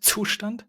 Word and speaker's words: Zustand: Yeah, I'm now doing the German way. Is it hard for you? You can't do that hard "tset" Zustand? No, no, no, I can.